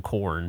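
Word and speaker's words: Khorne: Freak on a Leash I can't imagine that it's pronounced anyway other than corn but with like a hard with like a hard hidic like corn corn cool yeah yeah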